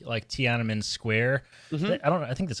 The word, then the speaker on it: Tiananmen: Brought this up in our Youtini Slack Bad Batch channel that we got really, really strong Tiananmen Square vibes in the beginning of this, didn't we?